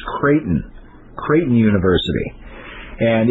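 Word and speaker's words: Creighton: the girl was attending kraton University and it spelled like it to me it's always looked like kryon C re e i g h t o n Katon it's actually pronounced kraton kraton University and it's a Jesuit university and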